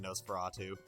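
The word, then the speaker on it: NOS4A2: 4 A2 it was spelled like a license plate it's NOS the number four a and the number two as you can imagine nosprato and the coolest part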